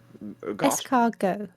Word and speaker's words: escargot: Escargot, yes. Ah, yes. You elves and your unnecessary letters. Escargot.